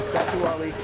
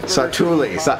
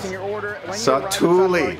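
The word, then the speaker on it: Satu'li: Then I click the cart button here, $10.99 for the Satuali. Satuli. I said the name wrong so many times. Satuli.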